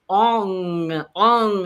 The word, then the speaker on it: Ong: And it's actually, instead of om in Kundalini yoga, we use ong. So it's a really nasal sound.